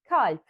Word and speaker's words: kalp: If we didn't know we need to soften the A, we would read this as kalp, kalp. But we know that there are some exceptional words that need a bit of difference in the way we pronounce the vowel.